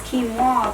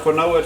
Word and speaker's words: quinoa: pronounce before early well i know how to pronounce quinoa but you don't i know pronounced for noah too look if you wanted to be sp